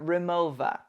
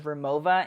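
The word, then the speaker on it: Rimowa: that the fact that nobody pronounces remova in the proper German pronunciation is a bit strange to me it's like a weird oversight I'm not saying they all had to go all old school Bavarian on us but you could just say the V instead of the W like the correct pronunciation peeps you know and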